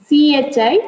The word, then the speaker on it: chi: Okay, actually it is CHI, but when you pronounce it is chi.